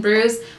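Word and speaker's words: Brews: It sounds like I'm saying bruise, like a skin bruise, but it's B-R-E-W-S, bruise.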